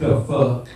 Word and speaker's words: THAFUQ: Oh, it's the fuck. But it's pronounced THAFUQ question mark exclamation.